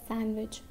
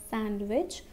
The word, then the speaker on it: sandwich: i will eat a sandwich remember we won't say sandwich okay we will not say sandwich because this d is silent we will say sandwich